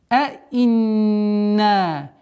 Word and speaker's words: أئنا: Якулуна аинна. Четкое произношение двух букв хамза с фатхой, с касрой.